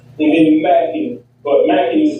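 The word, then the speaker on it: Mackn: and then Mackin. But Mackin is spelled M-A-C-K-N.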